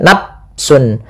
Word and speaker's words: nafsun: Ya, kesalahan yang saya terjadi juga di dalam membacanya, dia tidak mengalirkan nafas, misalnya nafsun, ini dengan diganti dengan p, padahal dia bukan.